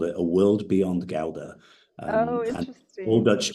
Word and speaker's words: Gouda: The Dutch, the real pronunciation is Gouda. The G is a very soft one, so it's Gouda.